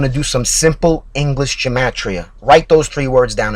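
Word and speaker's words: gematria: addition anyway fact number one there's something called gatria write it down it's spelled g e m a t r i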